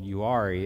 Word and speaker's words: Uwharrie: Forest that is called Uwharrie it spelled you hari but every time I say that they correct me out there apparently the H is silent so it's Uwharrie National Forest now you